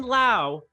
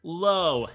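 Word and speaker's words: Lowe: and low combination yes Brandon Lau Josh love oh spelled the same said differently not confusing in any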